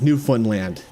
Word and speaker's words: Newfoundland: computer to tell you it's it's Newfoundland that's how you say it that's Lincoln Land hysteric